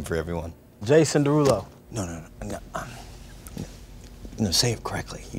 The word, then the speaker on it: Derulo: no um you know say it correctly you don't have to change the way you say it just because you're on the show oh no i'm not changing i'm just like saying my name like like a normal person like jason darulo like your name we'll